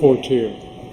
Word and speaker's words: Portier: And do you pronounce his name Portier or Portier? Portier.